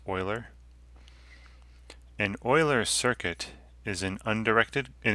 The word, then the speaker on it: Euler: An Euler circuit, that's pronounced Euler.